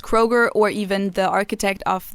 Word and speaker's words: Kroger: then are like mispronounced so for example kroger i think was like was it kluga yeah i think it was kruger probably yeah so like basically they just dropped the umlaut and now it's pronounced kroger or even the architect